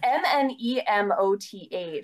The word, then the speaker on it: Nemoth: I would say Nemoth. It's Nemoth, so it's like Nemoth. A mnemonic. Nemoth. I feel like the first M is silent.